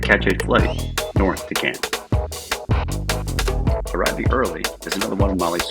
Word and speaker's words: Cairns: Yes, the Aussies pronounce it Cairns, where we hoped to have an opportunity to dive the Great Barrier Reef.